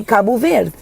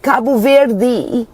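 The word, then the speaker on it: Cabo Verde: And if I'm going to say kabu ver I will say kabu ver. I'm not going to be like kabu ver like the what are we doing with the d. It's kabu ver.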